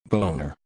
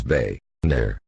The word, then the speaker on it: Boehner: will try it one more time mr speaker boner bone uh boner bone uh are you kidding me ryan it is bae nair bae nair they know you dumb [ __